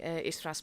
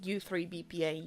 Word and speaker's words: Istra: how to pronounce this, because I kept calling it U3 BPA, U3, etc. And of course, I know that that is wrong. Only I'm not well versed in Cyrillic and Ukrainian or Russian, so neither of those languages, neither Cyrillic. I cannot read or pronounce Cyrillic much. So I really appreciate them taking the time to actually tell me that it's Istra.